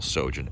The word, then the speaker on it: Sjogin: do is is google sojourn s-j-o-g-i-n um the j is silent like the p in swimming i couldn't resist that